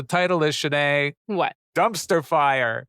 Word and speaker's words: Fyre: Dumpster Fire. And fire is spelled like the festival, F-Y-R-E.